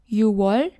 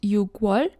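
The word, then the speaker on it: 유월: January is 1월, 2월, 3월, 4월, 5월, 6월, not 6월, it's an exception.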